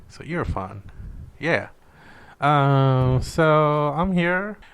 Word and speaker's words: Erfan: you can say like you're fun like you're a fun guy but just say you're fun but quick and that's how you pronounce my name so you're fun yeah um so I'm